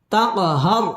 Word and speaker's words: تقهر: تنبرت হবে فلا تق কলকলা ধাক্কা দিয়ে পড়তে হবে তাকহার র পুর হবে এবং র এর